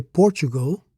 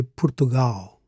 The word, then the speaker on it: Portugal: In English we say Portugal. In Portuguese we say Portugal.